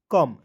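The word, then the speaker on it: come: पढ़ेंगे दोस्तों बुक पढ़ेंगे सीओ एमई क्या पढ़ेंगे दोस्तों कम ठीक है सीओ एमई को क्या पढ़ दोस्तों कम पढ़ते हैं ठीक है उसके बाद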